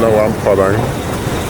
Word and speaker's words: Luang Prabang: Apparently you don't pronounce the R. So I'm in Luang Prabang.